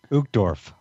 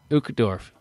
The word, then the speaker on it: Uchtdorf: Uchtdorf. Uchtdorf. Okay, this is from our friend Dieter. Dieter F. Uchtdorf.